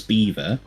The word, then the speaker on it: Belvoir: You can find us over on Twitch at Lord's Beaver, and it's spelled weird. It's Belvoir, because bloody Normans with their freaky spelling.